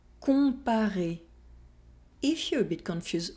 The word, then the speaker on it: Comparer: Remember to nasalize the sound on and not to pronounce the N or M. Non. Non. Citron. Citron. Profond. Profond. Complet. Complet. Comparer. Comparer.